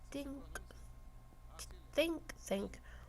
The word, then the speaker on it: think tank: This wasn't done by a think tank. That is how it's pronounced.